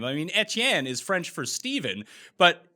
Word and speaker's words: Etienne: knew anything so yes it is a french creole canadian name it's etienne not etn and there it is